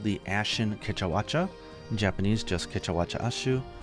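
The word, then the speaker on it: Kecha Wacha: Next up is one of the more favorite names to say, which is Kechawacha. In Japanese it's the same, it's Kechawacha, and its nickname is Kienko, which means the curious or strange monkey fox, which it definitely moves like.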